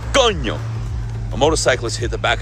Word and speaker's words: coño: Now, one of the most common, mispronunciations of the word coño is coño. People break it down into 2 syllables. Oh, coño, and they try to curse it out. Oh, what happened there, coño? No, it's one word, coño.